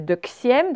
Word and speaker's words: deuxième: Deuxième, c'est l'un des rares mots où le X vaut Z. Donc, ça fait un peu comme si on mettait deuxième, d'accord?